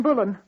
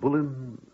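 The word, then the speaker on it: Boleyn: in the tower like Anne bullan oh that is the right way to say her name isn't it bullan bullan oh we are both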